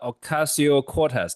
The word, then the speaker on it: Ocasio-Cortez: Gavin Newsom, the governor of California, AOC, Alexander Ocasio-Cortez. Did I pronounce the name correct, Professor?